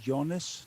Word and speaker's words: Jonas: No, it's actually Jonas, not. Oh, Jonas. Okay, yeah, that's the American pronunciation. Yep. Yeah. It's the Finnish way. It's like the long O, Jonas. Jonas.